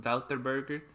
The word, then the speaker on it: Wouter Burger: So we're going to go back to the funny names, creative ideas in Wouterburger. That's how you correctly pronounce it, but as you can probably see by the title and the thumbnail, Whataburger.